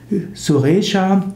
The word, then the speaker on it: Suresha: Suresha wird im Hindi auch gerne als Suresh ausgesprochen.